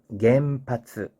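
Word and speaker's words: 原発: 그러면 겐파스 몇 박인가요? 하나, 둘, 셋, 넷, 네 박이죠. 그죠? 겐파스 이렇게 가야 됩니다.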